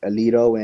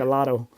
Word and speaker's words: Aledo: We have two towns that are always in state, Aledo and Broughton. Yeah. Is that And how you say it, man, Alito? Because I would always say it like yeah, Alato, you know.